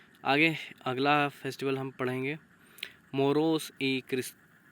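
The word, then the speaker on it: Moros y Cristianos: Series आगे अगला festival हम पढ़ेंगे मोरोस ई क्रिस्टियानोस, है ना। मोरोस ई क्रिस्टियानोस, इस तरीके से इसको प्रोनाउंसिएशन करेंगे, जिसकी लिटरली मीनिंग होती है मूर्स एंड क्रिश्चियन।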